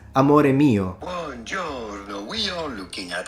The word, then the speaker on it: amore mio: Mi amore. Amor. Mi is Spanish. We don't do that. It's amore mio. No one in Italian says mi amore.